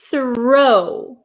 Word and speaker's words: throw: you have written is throw throw my my mouth makes a big O right th throw and the first word oh